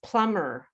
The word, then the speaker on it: plumber: The P is silent in uh there's a lot of silent B's. Plumber.